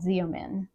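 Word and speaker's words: Xeomin: you the same results as Botox it's called zomin and I think it's spelled Z as in zebra EO m i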